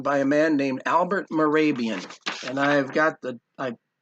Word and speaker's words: Mehrabian: name is spelled there M eh ra b IA n Mehrabian wrote this book on